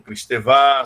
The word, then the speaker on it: Kristeva: Eu acho que vocês que conhecem também o trabalho, né, de Bakhtin, né, de Julia Kristeva, né, ou Kristeva, se você quiser pronunciar a francesa, né?